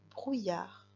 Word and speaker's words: brouillard: Alors, la première syllabe, j'entends brou, B-R-O-U, brou. Et la deuxième syllabe, j'entends yar, yar. tu vois qu'après le son Y, j'entends le A. Donc, il me faudra 2 L.